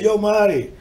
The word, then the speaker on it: Yomare: es ese exo seor yo mar sin acento en la e sin acento en la